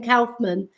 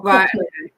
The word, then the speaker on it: Kaufman: and he was with Ben Kaufman, or Kaufman, as it's pronounced, sorry, Ben Kaufman, and he was with Philip Yap and Kuva.